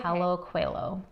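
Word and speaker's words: Paulo Coelho: Our next book will be The Alchemist by Paulo Cuelho. Yeah, you said it right. By Paulo Cuelho.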